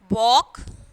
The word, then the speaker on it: walk: Walk, talk. So L is silent here.